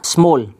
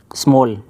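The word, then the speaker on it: small: शुरू किया अ एक स्मॉल छोटा स्मॉल स्मल नहीं बोलना इसे क्या बोलना स्मल सही प्रोनंसिएशन क्या होगा इसका स्मल एक छोटा और ये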